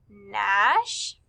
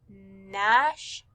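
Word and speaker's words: gnash: We would circle the words Nash and gnat. Both of these words begin with the G N digraph, but remember that G is silent, so you just hear the N, Nash, gnat.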